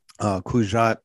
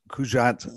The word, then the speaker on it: Cugat: It was, you know, like I said, it was Francisco Cugat. I'm sure I'm not saying it right. He's Spanish, so I'm making that the G sound not quite a hard G the same way.